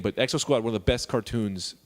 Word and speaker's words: Exo Squad: Exo Squad.